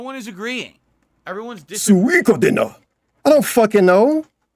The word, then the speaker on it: Suikoden: It's not Suikoden, it's Suikoden. Okay, call it that now. No one agrees. Look it up. No one is agreeing. Everyone's disagreeing. Suikoden.